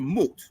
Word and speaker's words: Mut: But it can represent the name Mat, M-A-T, or Mut. That's actually how you would pronounce that. Do you disagree with that? It's Mat. Well, she says Mat, but I don't know. It's consonantal language, so I guess it could be Mut. Right. Exactly. Which is found in but specifically we know that in the Ugaritic, you really would pronounce it Mut.